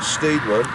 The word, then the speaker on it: Steedman: lot lot more but James stadman some pronounce it steedman stadman the soldiers hated him